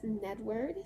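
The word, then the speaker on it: Gnedward: of fingering weight gnome it's nedward spelled with a silent G N word of grindal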